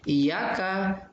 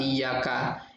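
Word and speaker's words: إِيَّاكَ: Iyyaka na'budu, ya, huruf K di kata iyyaka ya itu dibaca pendek. Nah, sementara karena kita masih berpikir tuh setelah kata iyyaka itu ada na'budu, jadi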